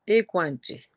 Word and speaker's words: Equanchi: Tantôt, ma petite fille disait c'est Equanchi. On dit Equanchi.